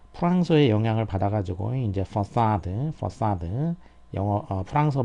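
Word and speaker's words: façade: 그러면 C의 밑에가 이 붙어가지고 이게 스 발음을 낸다는 뜻이죠.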